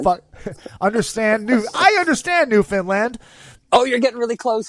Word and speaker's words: Newfoundland: I love it so so new Finland new Newfoundland new Finland okay close it rhymes with understand IIIi I tried I